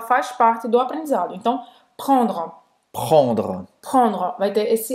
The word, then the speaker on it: prendre: Prendre. Prendre. Prendre. É sua vez. Prendre. Prendre. Muito bem. Então, a garganta, tá?